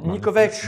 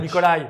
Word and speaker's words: Nikovec: Et oui, Nikovec. Nikovec. Pas Nikolai. Nikovec. Nikovec.